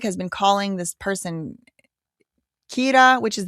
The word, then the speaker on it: Kira: The general public has been calling this person Kira, which is the Japanese pronunciation of the English word killer.